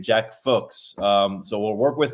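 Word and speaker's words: Fuhs: Tyler did some did some double-checking for us and it rhymes with books. So, if you've kind of picked that up from how he's saying Jack Folks.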